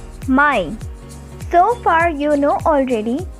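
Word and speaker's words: Mai: as april of english may just take the ending as i at the end then it is called as my so far you know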